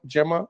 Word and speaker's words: Gemma: If I pronounced your name correctly, is it Gemma or Gemma? Gemma, okay.